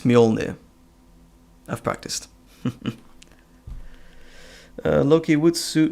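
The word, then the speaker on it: Mjölnir: Oh, Kira, if you can ever pronounce Thor's hammer right, it's Mjolnir.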